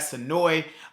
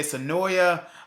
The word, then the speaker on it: Senoia: into the pros and cause of living in sonoi Georgia yes I am pronouncing it as the way is pronounced locally here at sonoy uh but it is spelled most of you would say sonoya uh or sonoa it's it's up to you um but I'm